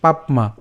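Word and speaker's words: পাপ্মা: মহাশন মহাপাপমা, এখানে আমরা উচ্চারণ করলাম পাপমা, এই প আকার প হসন্ত পর্যন্ত উচ্চারণ করলাম এবং নিচে যে যুক্ত বর্ণটি আছে সেটি হচ্ছে ম, এর সাথে হচ্ছে আকার। সো পাপমা, মহা পাপমা বিদ্ধিয়ে।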